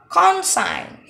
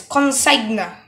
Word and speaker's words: consign: Consign. Consign. In this letter, the letter G is silent, so it will be consign, consign. But it will not like this, consigna is incorrect. The correct pronunciation is consign, design, design.